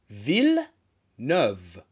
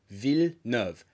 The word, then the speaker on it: Villeneuve: français, je suis français, stop saying Denis Villeneuve. Look at my mouth. Villeneuve. It's a very, very slight F. Villeneuve.